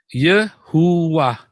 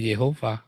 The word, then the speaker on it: Yehova: Yehuwah. Yang betul adalah Yehova. Itu yang benar.